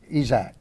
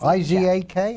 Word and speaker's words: Izak: I always say Isaac. Yes, it's I-Z-A-K, I think? Izak, Yeah.